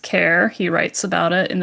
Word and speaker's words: Kerr: He pronounces it kerr. However, it is actually pronounced care.